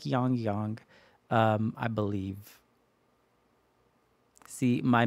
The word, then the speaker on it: Yangyang: them eventually um he I pronounced his name wrong in my last reaction I kept calling him y Yong but it's like yongyong um I believe see